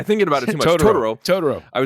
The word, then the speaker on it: Totoro: saying that correctly because I constantly say to Ttoro.